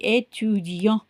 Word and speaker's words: étudiant: ஸோ இங்கே டீயை வந்து நீங்கள் ப்ரொனவுன்ஸ் பண்ண மாட்டீங்க. étudiant. இங்கே இருக்கிறதுனால டீயை ப்ரொனவுன்ஸ் பண்ணீங்க.